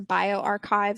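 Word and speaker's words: bioRxiv: spelled with an x or bio archive spelled with an x um but sometimes these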